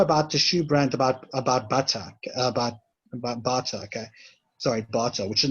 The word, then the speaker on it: Bata: Yeah, Bata, okay? yeah. Bata, yeah. That's it, yeah. That was my pronunciation as well.